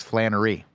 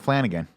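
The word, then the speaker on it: Flanery: live right now that says Flannery. Not Flanagan. Sean Patrick Flannery is the man's name that I have been mispronouncing for the better part of the last half hour.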